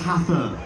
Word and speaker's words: Hathern: I'm gonna wake up to, oh my god, it's pronounced Hathern.